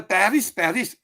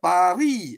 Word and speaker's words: Paris: So, of course, we English speaking say Paris. That's the way you pronounce. But you're in France, it's called, the S is silent, Paris.